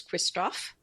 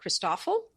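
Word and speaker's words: Christofle: Uh there's Kristoff Kristoff and Poat the Kristoff it people in America sometimes call it Christophel because it's because of the way it's spelled and and that sounds awful.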